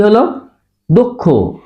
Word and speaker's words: দক্ষ: আছে তাহলে দ এর সাথে ওকার তাহলে সঠিক উচ্চারণ কি হলো দক্ষ দৌকার ক দক্ষ খে দক্ষ এটা কি হবে